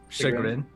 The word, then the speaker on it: chagrin: To KJ's eternal chagrin, there's no like higher level of success.